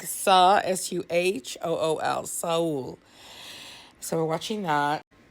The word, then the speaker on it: Seoul: Saul. Saul. Soul. Okay. I think that's it. It's like Suhool.